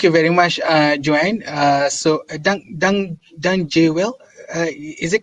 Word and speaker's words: Dank je wel: So, Dang Jewel, is it correct, my pronunciation? The J is a Y, so Dank je wel.